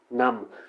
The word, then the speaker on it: numb: सुन्न हो जाता है, उसे हम बोलते हैं नम। इसमें बी को साइलेंट किया जाता है।